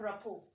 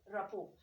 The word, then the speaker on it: rapport: second sound here is t we talk of rapport rapport so here you talk of this but the